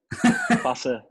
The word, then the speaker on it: Fasa: Fasa.